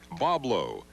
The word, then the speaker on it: Boblo: gr on there patrons to the island continually mispronounce the island's name as boy blank in 1909 the ferry company decided to begin using the phonetic spelling Boblo as the new name